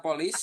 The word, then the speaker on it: police: Polis ya. Dibacanya polis, Teman-teman. Polis.